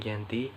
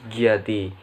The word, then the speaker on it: Giyanti: Namun, oleh masyarakat Belanda atau company sering disebut dengan Iati, sehingga secara pelafalan menjadi Giyanti.